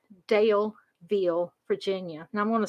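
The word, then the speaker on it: Daleville: going to begin in a little town called dale veal virginia and i'm going to spell it for you guys it's d-a-l-e-v-i-l-l-e dale veal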